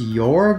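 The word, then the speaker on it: Jorg: schnell's hauler I believe his name is pronounced yorg it's spelled j o r g now I know someone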